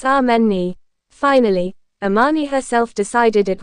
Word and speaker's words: Amani: It's ameni.